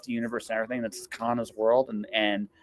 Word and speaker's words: Kana: That's Kana, rhymes with iguana.